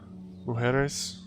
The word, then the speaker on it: mujeres: Because a J kind of makes an H sound in Spanish.